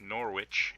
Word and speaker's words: Norwich: Silent W, like Norwich, is pronounced Norwich.